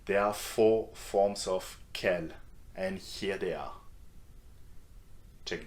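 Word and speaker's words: quel: So Kel is going to be quite easy for you guys to use because the four forms of K are pronounced the same way. Okay, just ke and here are some useful questions you can ask someone using kel.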